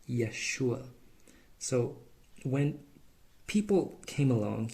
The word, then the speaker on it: Yeshua: And same thing in Hebrew, this first letter, it's Y. It's like a Y sound. And it's the first letter of Jesus' name in Hebrew. That's why we call him Yeshua.